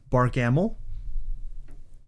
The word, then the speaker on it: Barkamel: Like, I named him Barkham Ill, or if you pronounce it more correctly, Barkamel.